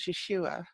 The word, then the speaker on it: Yeshua: familiar name which was Yeshua and Yeshua is actually what he was called in that life and that's his Hebrew name Jesus is a a